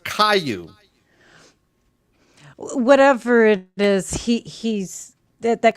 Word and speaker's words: Caillou: Oh, Splendid Difference is saying it's pronounced Caillou.